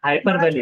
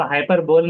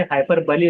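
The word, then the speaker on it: hyperbole: बड़ा हाइपरबली। चढ़ा कर। हाँ, किसी चीज को बड़ा चढ़ाकर बोलना। तो हाइपर बोल नहीं बल्कि हाइपरबली उसका प्रोनाउंसिएशन निकलेगा, हाइपरबली।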